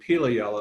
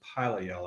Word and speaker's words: Pilayella: say for the longest time I was saying pili yell about a scientist at Northeastern was corrected me and said that it's actually pronounced pilot yell I find that even more difficult to say